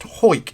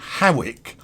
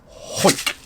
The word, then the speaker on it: Hawick: may not know this, you'll know it's pronounced Hoik. It's actually spelt Hawick, Hawick. But if you should go to Scotland and say Hawick, they would all look